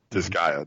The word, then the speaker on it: Disgaea: You can do it also in I've never known how to pronounce it. Disgaea 2? Disgaea.